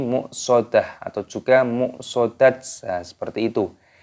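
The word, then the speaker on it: مؤصدة: dimatikan ataupun di sukun maka cara membacanya bukan much saudatun tapi muksodah atau juga much seperti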